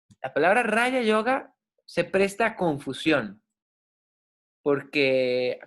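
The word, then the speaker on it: raja yoga: Entonces, Raya, recuérdense, la J pronuncia como una Y, y la palabra Raya Yoga se presta a confusión,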